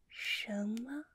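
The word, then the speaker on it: 什么: here this phrase we say it like Shama do you guys know what hit me Shama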